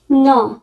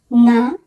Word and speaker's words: no: ন, ন, না, নো। এখানে যে বিষয়টি খেয়াল রাখবো সেটি হচ্ছে ইংরেজিতে আমরা নাকে বলি নো, কিন্তু ইটালিয়ান ভাষায় বলা হয় ন। তাহলে আমরা ন বলবো, নো বলবো না।